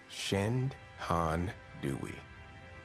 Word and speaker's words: Shenandoah: The name Shenandoah is likely derived from the Native American language Algonquin, pronounced Shen-Han Dewey.